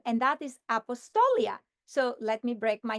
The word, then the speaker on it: Apostolia: But I have a second first name, and that is Apostolia. So let me break my name in syllables. Apostolia. So I have 5 syllables in my name.